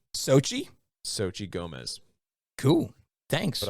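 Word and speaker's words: Xochitl: be like hey patty xo is pronounced s-o and that cheetle is pronounced chi so it's sochi sochi sochi gomez cool thanks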